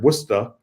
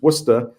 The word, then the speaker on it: Worcester: years I've been in Worcester Massachusetts which is pronounced here wora wer even though it's spelled like Worchester like like in England it's it's wora and it's about it's right in the center